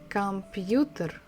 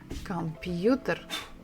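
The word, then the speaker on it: компьютер: word with Russian letters so it is computer computer come you there computer so the stress is on the third syllable and the sound of this book is the same as in English computer computer next one is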